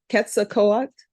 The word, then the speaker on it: Quetzalcoatl: Do it phonetically for me. No, because you make fun of my phonetics. Quetzalcoatl, Good.